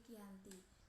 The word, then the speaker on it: Giyanti: berada di desa Janti dalam pelafalan Belanda nama Giyanti sering disebut sebagai kiyanti tetapi secara tertulis dia terbaca sebagai ganti tempat tersebut sekarang terkenal